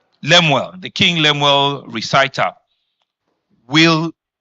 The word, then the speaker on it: Lemuel: And I know that the King Lemon, am I pronouncing it well? Lemuel, the King Lemuel Recital will come to stay.